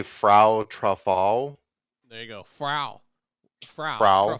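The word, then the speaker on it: Frau Troffea: all start with this woman, often identified as Faro Tor. You want to try to say her name? say Frau Truffal.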